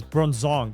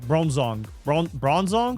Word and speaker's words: Bronzong: I zoned out like trying to understand how to pronounce this. Bronzong. Bronzong.